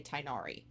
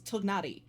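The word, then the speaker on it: Tighnari: You will never get me to say Tinari. His name is not Tinari. It is Tnari.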